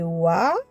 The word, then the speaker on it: و: Pour faire les harakat, pour prononcer la lettre waouh, alors je viens mettre fatha, ça fait wa comme wallaby. Là, ça fait oui.